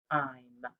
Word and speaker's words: dime: We know that it has an E on the end, so it makes the long I sound. Dime. If it didn't have the E on the end, it would be a short I sound, and it would be dim. But that E is our clue that it's the long vowel sound.